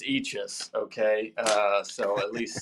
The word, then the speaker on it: Eachus: before either of you tell your stories it's pronounced eachis okay uh so at least say that when